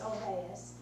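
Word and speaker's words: Olweus: If you see it, it looks like OLW is the way it's written, but it's pronounced Alveus.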